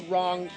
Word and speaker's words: Rawn: in baby solo album but the wrong side of town we've just released an album and it's self-titled to the wrong side of town and that's spelled r-a-w-n side of town she like oh